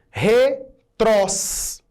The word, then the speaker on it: retrós: Retrós é uma palavra oxítona.